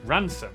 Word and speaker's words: Rampisham: Head over to Rampisham Ransom.